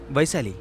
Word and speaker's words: Vaishali: - Vaishali. What kind of people are you? That is not the way to pronounce it. Say V-A-I-S-H-A-L-I !